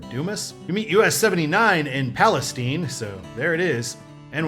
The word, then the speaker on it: Palestine: And we leave I45 or 287 South Palestine.